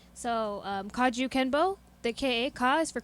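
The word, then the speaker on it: kajukenbo: k k e n b o so um kaju kenbo the ka ka is for karate ju is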